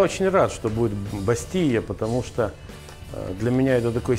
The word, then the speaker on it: бастийя: ребята там каких-то источниках пишут бастилия через да ну таких вот произношения букву л проглатывают да вообще например не поели а по ее да да не бастиле обасти е.п. мы можем изложение все-таки говорить бастия куриный пирог с миндалем